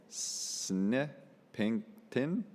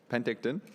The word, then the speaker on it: Penticton: An Okanagan mother who lives at the Snipington. Okay, Penticton.